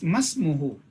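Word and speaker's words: ما اسمه: That means masmuhu. Hamza is Hamzatul Wasl. So when it comes in between, we would not read it, pronounce it.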